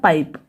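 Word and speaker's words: pipe: फिर यहाँ पे देखिए पी आई पी ई, इसे कैसे पढ़ेंगे, पी को पढ़ेंगे प, आई को पढ़ेंगे आई, ठीक है, हो गया पाई, फिर पी को पढ़ेंगे प, तो हो गया पाइप, और जो लास्ट में ई है ये साइलेंट रहेगा, ओके।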